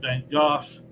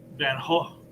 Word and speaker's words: Van Gogh: reading the story was how to pronounce van gogh and then goes the american pronunciation the british pronounced his name van gogh but in the original dutch jeez are silent so it's more like van hall but i think if